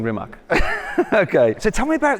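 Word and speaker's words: Rimac: products and rimax products I'm saying it kind of half correctly it's it's rimat isn't it rimat yeah it's a creational way of pronouncing remach okay so tell me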